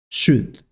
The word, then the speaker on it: should: Should. Should. Should. In this word, the letter L is not pronounced.